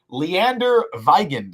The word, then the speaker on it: Leander Weigand: The Jets signed Leander Weigand, is I believe how you pronounce it, if my time in Germany taught me anything.